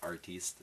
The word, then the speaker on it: artiste: There's an e at the end. You're right. Good point. You can pronounce it artiste, l'artiste.